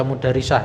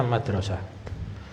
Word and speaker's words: madrasah: Jadi nggak mungkin kita baca mudarisah ya. Ini bacanya madrasah.